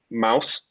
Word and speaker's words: Maus: like to Central Michigan students about his work, Maus, M-A-U-S is how you pronounce it, which is like a comic book